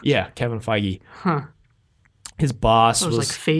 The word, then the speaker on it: Kevin Feige: That's how you pronounce his name? Yeah, Kevin Feige.